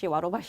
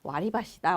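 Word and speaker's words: 割り箸: 그러니까 이제는 알고 쓰시는 거니까 와로바시 하지 마시고 와리바시다. 원래는 이렇게 딱 기억을 하시면 될 것 같아요.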